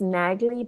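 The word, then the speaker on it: Nadli: There's u one in the north and it's called uh it's pronounced Nagi but it's pronounced na it's pronounced Nagi but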